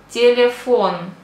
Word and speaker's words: телефон: Example, телефон. Телефон. The accent is on the O. Телефон. So, E we pronounce like E.